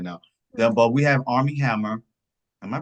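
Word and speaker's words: Armie Hammer: But we have Army Hammer. Am I pronouncing that name right?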